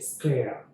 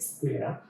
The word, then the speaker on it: স্ক্লেরা: এখানে এই প্রোনাউন্সিয়েশন গুলো একটু অন্যরকম হয়ে যায়, কারণ যুক্ত বর্ণ তো। তো এটা যখন পাওয়ার পয়েন্টে চলে আসে তখন এগুলো আজীব টাইপের হয়ে যায়। এটার অ্যাকচুয়াল বানানটা হচ্ছে এরকম, অন্তঃ স, তার নিচে ক, তার নিচে ল, স্লে, তারপরে হচ্ছে রা। ওকে, স্ক্লেরা।